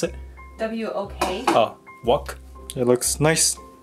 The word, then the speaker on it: wok: That's what you place a whack on? What? Do you call it wok? Wok? How do you spell it? Pronounce it? W-O-K.